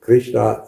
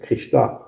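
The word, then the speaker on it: Kṛṣṇā: the earth, or Shakti, is called Krishna in the feminine, with a long A at the end.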